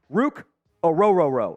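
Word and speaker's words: Ruke Orhorhoro: on the trenches uh in this mock draft Rook aoro out of Clemson that that is how it is pronounced by the way uh the the Clemson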